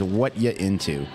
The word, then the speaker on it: What You Into: I don't want to keep mispronouncing the name. It's What You Into.